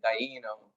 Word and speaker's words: Dano: You would actually pronounce it Daino if you're phonetically in Italian.